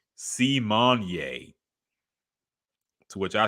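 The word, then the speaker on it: Symoné: that yeah um other things real quick Raven Simone corrected everybody this week she said her name is actually pronounced simonier to which I say too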